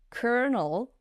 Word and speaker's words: colonel: English you have to pronounce kernel but spell it like colonell right and why